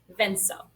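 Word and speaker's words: venzo: And so we're going to change the C to a Z, venso. Because the Z in Spanish makes this sound.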